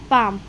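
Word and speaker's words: palm: silent है ठीक है और जब कभी किसी वर्ड के लास्ट में ए एल एम कुछ भी लिख रहे हैं हम या तो लास्ट में या स्टार्टिंग में ए एल सॉरी लास्ट में ए एल एम आता है एक साथ आए तो एल की साउंड क्या रहती है साइलेंट हो जाती है एल वहां पर भी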